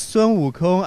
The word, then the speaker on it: Sun Wukong: Yeah, you pronounce very clearly. It's Sun Wukong, and also known as the Monkey King.